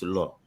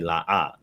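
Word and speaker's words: לא: So it depends on if I'm reading the text from the Masoretic text. It's lo, right? It's pronounced no in the Masoretic text, and that's where you get the lo from a lot of Tanakh Old Testament, subscribers. But those using the Lashwa Kadash, they say la'ah.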